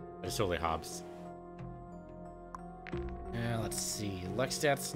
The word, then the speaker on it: Hobbes: of calvinodobs the comic strip i used to pronounce these as hobbies they're totally hobbes and let's see lex that's not great but